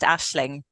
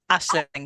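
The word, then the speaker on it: Aisling: Asing so yeah my full name is it's pronounced Ashling Ashling con Irish spelling name yes Ashley hell and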